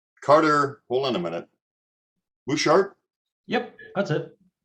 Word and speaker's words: Buschardt: hold on a minute bouchard yep that's it you don't pronounce the t one or the other you're not allowed to